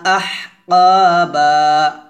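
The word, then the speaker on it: أحقابا: এভাবে লাবিসিনা ফিহা আহকাবা আমরা এখানে অনেকে আহকা আহ এভাবে বলি তো আহ বলা যাবে না আহ আহ এভাবে হামস উচ্চারণ করতে হবে গলার মাঝখান থেকে চিকন করে বের করতে হবে শব্দটা আর এখানে কা বলা যাবে না কফ বলতে হবে লা এক লিপটান হবে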